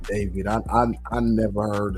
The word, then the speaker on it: D4VD: Yeah, this this is uh this is a sad situation, man, with this guy David D4 BD pronounced David.